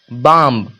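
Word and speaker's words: bomb: है तो आ गया बाम क्या बाम बाम तो बी का उच्चारण नहीं एम का उच्चारण हुआ म बी का उच्चारण नहीं हुआ बाम थोड़ी लिखा हुआ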